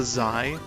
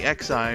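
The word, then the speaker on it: X'Eye: the Zai, but like it was spelled like X apostrophe EYE, so it doesn't, like, that's so fucking weird. Just call it the XI, man. Which I imagine a lot of people, when reading it, do pronounce it like that, but no, it's supposed to be Zai.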